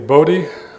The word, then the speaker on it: Buddha: The words Buddha, Dharma, and Sangha ought to be pronounced as in the days of Gautama, the Lord Buddha, namely Bodhi, Dharma, and Sangha, and